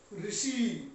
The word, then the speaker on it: ऋषि: ट वर्ग अभी उच्चारण से स्पष्ट हो जाएगा। र और श, ऋ, ऋषि, ऋषि, ऋषि, ऋषि कहेंगे तालु से और ऊपर